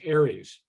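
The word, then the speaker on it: ARES: has its own acronym a-r-e-s usually pronounce aries aries is in most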